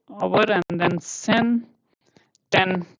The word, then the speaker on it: zehn: 9 over, and then sen, 10. 10 is called sen, and then 11 is called elf, and 12 is called self.